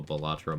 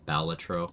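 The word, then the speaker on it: Balatro: Oh, Chris, I was made aware of the existence of a Batro multiplayer. Sorry, Baltatro.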